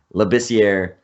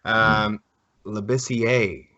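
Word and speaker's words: Labissière: Labissiere, I think he's French. I've heard that the R is in there though. Labissiere.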